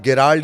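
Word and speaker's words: Gerald: तीसरा जिसे आप गिराल्ड या जेरा दो नाम कहते हैं। यह प्रोनंसिएशन का मामला है। उसकी स्पेलिंग दरअसल जी ई से शुरू होती है। तो कोई गैराल्ड बोलता है, कोई जेराड बोलता है।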